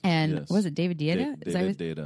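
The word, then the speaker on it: Deida: Was it David Data? Data, that's how you say it.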